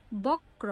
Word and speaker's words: বক্র: ক যোগ র, বক্র, বক্র। দেখো উচ্চারণ করার সময় কি আসছে? বক্র, বক্র, ক র আসছে, তাই না?